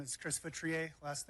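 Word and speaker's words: Feutrier: Hi, my name is Chris Vitrier. Last name is spelled F as in Frank, E-U, T as in Tom, R-I-E-R.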